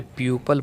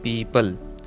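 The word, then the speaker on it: people: what is पे lead मुझे याद है हमारे टीचर इसे प्यूपल बोलते थे बट यह गलत है इस करेक्ट प्रनंसीएशन इज पीपल यहां यो लेटेस्ट एंट्री अगर अ है पीपल का पेड़ देखिए हैं पीपल सेम वही बोलना है पीपल it's correct pronunciation of पीपल कि नाव नेक्स्ट व्हाट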